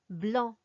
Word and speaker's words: blanc: We just don't pronounce them when they come at the end of a word.